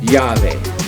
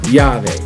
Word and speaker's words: llave: Alright, and we have a key right here, but in Spanish, key is llave. Alright, as a double L at the beginning, so llave.